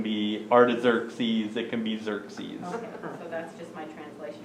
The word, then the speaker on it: Xerxes: king a hazaris or xerxes yeah that's pronounced cersei well it depends on